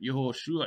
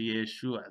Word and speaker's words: Yeshua: The name had changed in pronunciation to Yeshua.